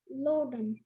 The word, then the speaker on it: loden: Am I pronouncing it correctly? Loden.